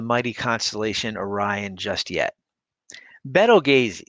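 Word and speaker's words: Betelgeuse: constellation orion just yet beto gaze sometimes pronounced beetlejuice is just about the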